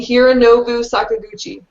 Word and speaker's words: Hironobu Sakaguchi: I got to see Nobuo Uematsu and Hironobu Sakaguchi was there. That's actually right. You pronounced them right.